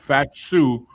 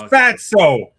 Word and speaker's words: Fatu: Oh, if Fatu wins, we riot. It's Fatso. It's Fatso. Stop getting his name wrong. It says Fatu. Yeah, Fatsu.